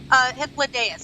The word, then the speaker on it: Hythlodaeus: And we hung out with Hythlodaeus.